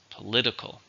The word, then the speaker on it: political: adjective how many syllables political for with a stress in the second syllable political political progress is